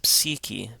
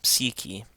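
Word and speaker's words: ⲯⲩⲭⲏ: So in this case, it's pronounced like a short I. And the K takes on a K sound as opposed to a ch sound or a sh sound.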